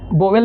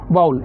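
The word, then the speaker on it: vowel: पहले को कहते हैं वाउल, ना वोवेल नहीं कहेंगे इसे, वाउल। इसका करेक्ट उच्चारण क्या? वाउल।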